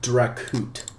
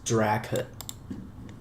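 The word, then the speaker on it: dracut: add that install Colonel draut who the hell calls this uh drao drao no it's draut I do know that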